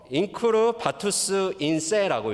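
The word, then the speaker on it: incurvatus in se: 자막을 한번 보시면 인크루 바투스 인세라고 읽습니다. 우리 같이 한번 읽어볼까요?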